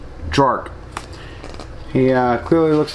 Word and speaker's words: Draurk: very strange name too one that i can hardly pronounce drork that's right d-r-a-u-r-k jork he uh clearly looks